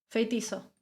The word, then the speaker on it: Feitiço: ¿Cómo se dice esa C con el apóstrofe abajo? ¿Feiticho? ¿Cómo se pronuncia esa C en español? Feitizo. Ok. Feitiço.